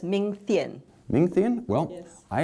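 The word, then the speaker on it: Ming Thein: I think his name is pronounced as Ming Thien.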